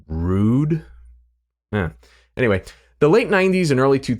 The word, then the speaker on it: Røde: a more European Vibe so does this mean that the company's name should be pronounced rude yeah anyway the late